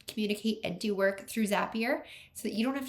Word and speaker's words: Zapier: Uh Zapier makes you happier. I've been told 10 million times when I pronounce it wrong.